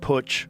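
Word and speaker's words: Putsch: The business plot called the Wall Street push was uh the White House push.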